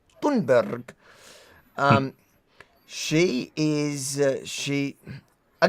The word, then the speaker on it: Thunberg: Everybody's realized that we've been saying her name wrong the whole time now. It's I've been saying Yeah. I've been saying Thumbberg. I didn't realize it's Thunberg.